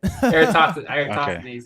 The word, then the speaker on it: Eratosthenes: Eratosthenes. Yeah, it's hard to pronounce.